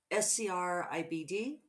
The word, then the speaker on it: Scribd: i'm saying it right scribd sounds like ribbed but with an sc in front there we are aren't